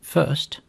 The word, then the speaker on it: fst: more built-in polymorphic functions there is the FST function which is pronounced first it takes a tuple